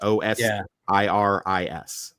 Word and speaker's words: Osiris: O S I R I S. Osiris. Osiris. Yes. Osiris.